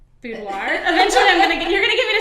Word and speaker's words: boudoir: So Critsey of Couture Boudoir, pronounce it for us. Boudoir.